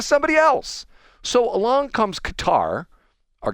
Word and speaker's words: Qatar: So, along comes Qatar or Getter or whatever. How'd you pronounce it? It's Cutter. Cutter.